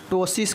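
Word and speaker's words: ptosis: eyelid इसे हम लोग टसिस कहते हैं क्या कहते हैं पी जो है साइलेंट होगा टसिस जो है हम इसको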